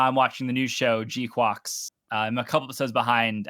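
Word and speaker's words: GQuuuuuuX: watching the new show, G-Quox. I'm a couple episodes behind as of this recording, but is that how it's pronounced? Pretty good. I believe that's how it's pronounced. Like quacks with a U.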